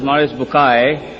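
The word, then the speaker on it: Maurice Bucaille: and a scholar of Quran Dr moris buky pronounced as moris bukai am I right Dr do matter okay uh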